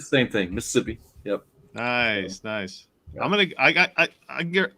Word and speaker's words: Mississippi: I'm down south in Mississippi. Yep. Nice. Yeah. Don't put all the syllables in there. It's just like a couple.